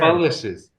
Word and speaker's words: Pholicious: it with uh, fa, so you're like fa, but then just take out the grunt, and so fa. pho. There you go. There you Oh, go. Pholicious? Yeah, falicious. Yes, sir. Pholicious.